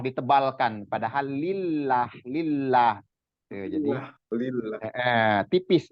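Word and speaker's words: الله: kalau dia diawali dengan fathah Allah itu tebal atau tafkim Allah ada dari kasrh ke Allah itu juga tebal tapi kalau yang dari e dari kasrh kalau domah fathah dia hasilnya tebal untuk pelafalan nama Allah ya penyebutan Allah atau harfun jalalah tebal kalau dari fathah atau dah tapi kalau dari kasrh tipis jadi ada juga kita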